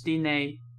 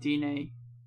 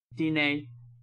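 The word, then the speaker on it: Diné: The emphasis is on the second syllable of Dine, so it's Dine, not Dine. Dine.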